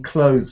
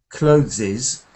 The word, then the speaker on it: clothes: So I often hear clotheses and I often hear naked, but it's not, it's clothes and naked.